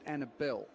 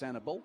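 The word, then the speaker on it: Annable: Uh it it's spelled Annabel, but I believe and it's he prefers it Annabel.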